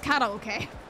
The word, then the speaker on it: karaoke: Japanese stole words like karafuru, and we stole the word karaoke and pronounce it wrong. It's karaoke.